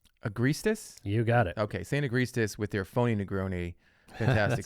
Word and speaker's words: Saint Agrestis: And of course, I can never pronounce the name, Saint Agrestis. You got it. Okay, Saint Agrestis with their phony Negroni.